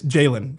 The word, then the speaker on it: Jalen: One like you kind of add like a Y like Jayen or Jalen. Like it's the first syllable. Jaylen or Jaylen. That's the difference. And it's Jaylen for the record.